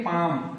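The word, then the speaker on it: palm: बीच में दिया है इसम ए एल एम इसमें हम एल को साइलेंट कर देंगे सीधा पढ़ेंगे पाम पाम का मतलब होता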